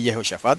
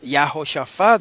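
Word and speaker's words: יְהוֹשָׁפָט: En arameo no se dice Yehoshafat como se dice en hebreo, ¿verdad? Y Yehoshafat es un nombre hebreo, pero en el texto arameo no se dice Yehoshafat, se dice Yahoshafat. Esto, hermanos, es una buena evidencia, ¿ves?, de que en el hebreo antiguo era igual. Yahoshafat era que se decía, y no Yehoshafat como dicen los masoretas que debe decirse.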